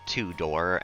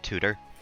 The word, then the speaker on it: Tudor: I feel like I always say that like two-door and not tutor. It's not professional and it's not ethical to download the Tudor House or to pronounce it like Tudor.